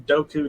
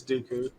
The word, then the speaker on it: Dooku: pronounce his name wrong I think it's Dooku but you just keep